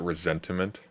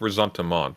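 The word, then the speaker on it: ressentiment: He says resentiment, and then he just started saying resentment. Yeah, I kept correcting him, being like, you have to say resentiment. Have to, because that's the fucking point. Resentiment.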